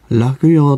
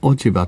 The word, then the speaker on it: 落葉: 役でございますこれはね楽用と読む読み方もありますし落ち葉という風に読む読み方もありますけれどもね内容から